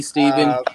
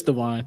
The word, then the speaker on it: Devon: Steven said higher, but really, Steven? No, you gotta relax. I hope I pronounce his name. I think it's Steven. It's Devon. It's Devon. Okay.